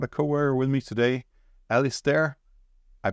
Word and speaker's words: Alistair: And to explain that to me, I brought a coworker with me today, Alistair. I pronounced that correct this time, right?